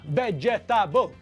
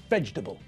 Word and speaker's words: vegetable: When we pronounce the word, we squash the middle of the word together. We don't separate the parts of the word, we squash them together. So it's not vegetable.